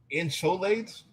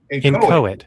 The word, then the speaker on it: inchoate: An extreme form of hate speech inciting to genocide is an incholate. I've never heard of that before. Incholate. How do you say that? Let me, here's Masada. We don't willfully be dumb. Inchoate.